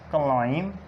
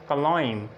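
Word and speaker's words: climb: एम के बाद और टी से पहले बी साइलेंट होता है, एम के बाद और टी से पहले बी साइलेंट होता है। एग्जांपल्स देखते हैं, एग्जांपल्स कौन सी हो सकती हैं, जैसे कॉम, क्लाइम, क्रम, नम, टॉम, इसी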